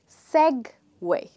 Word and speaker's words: segue: This word is actually Segue, okay?